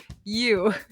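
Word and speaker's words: ewe: like you you it's spelled like you it's pronounced you question six true or false pigs are smarter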